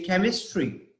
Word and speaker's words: chemistry: check cheek Cheeta okay - and when I pronounce this word here I say chemistry it's completely different right so here I'm not